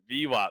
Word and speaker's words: VWAP: It rhymes with CWAP. VWAP.